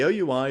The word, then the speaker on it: OUI: Don't pronounce it Wii. Uh the OUI is assigned to hardware vendors by the Institute of Electrical and Electronics Engineers.